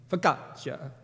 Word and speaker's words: focaccia: it comes from is it's Italian. And so I pushed the button to hear, how do you say this? And this is how it would sound. Focaccia.